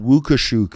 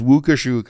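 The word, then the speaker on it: Łukaszuk: he posed, but his name's actually pronounced Wukushuk in Polish. You'll talk to Eva about that when she comes on. Serious. His name is Wukushuk.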